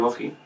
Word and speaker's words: Treorchy: I don't know how it's pronounced. Is it Treorchy? Yeah, I think that's correct. Treorchy.